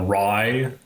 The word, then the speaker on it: Rai: something about uh like it's pronounced rye and yes we've heard all the sandwich jokes okay um so yeah